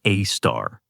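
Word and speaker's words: Sagittarius A*: Scientists call it Sagittarius. a star pronounced a star.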